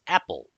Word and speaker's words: EPEL: So this command installs the extra packages for enterprise Linux Epel which is often referred or pronounced as Apple repository.